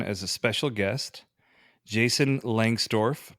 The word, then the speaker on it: Lengstorf: a special guest jason langsdorff pronounced as it is written from gatsby js jason